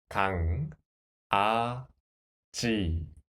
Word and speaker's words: 강아지: Next example, the first syllable block, 가, 강, right? Without the final consonant, it is 가. And the sound of this consonant is The sound of the final consonant, So, 가, 강. Second syllable block, 아. Third syllable block, 지. 강, 아, 지. 강아지.